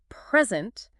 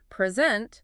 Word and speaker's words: present: about a gift but if I say present with the stress on the second syllable I mean the act of giving something wow you're right the